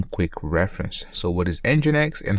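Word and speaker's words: nginx: they have some quick reference so what is engine X and how to use this image so let's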